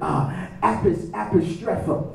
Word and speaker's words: apostrepho: The word perverted is the word apostrepho. Apostrepho is spelled A-P-O-S-T-R-E-P-H-O.